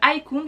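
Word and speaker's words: Icoone: Et non, le Haikun, ce n'est pas un nom à connotation asiatique. Mais le Haikun, ça s'écrit I-C-2-O-N-E.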